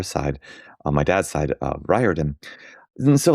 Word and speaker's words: Riordan: And I always laughed at like, you know, my last name we we pronounced it Riordan and there's um you